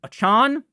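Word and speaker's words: Achane: you say his name it's not a change it's not Devin two chains I'm gonna call him that but I believe it's Devin achon from what I have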